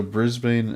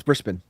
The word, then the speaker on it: Brisbane: So, Brisbane, uh, I've been back for a minute